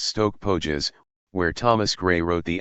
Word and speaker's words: Stoke Poges: off on another tour, to Stoke Poges church, pronounced Stoke Pógees, where Thomas Grey wrote the elegy.